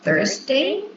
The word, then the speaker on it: Thursday: So, I just could notice the pronunciation of Thursday. Be careful with the pronunciation of this day because it's it's not T, it's Thurs- Thurs- day.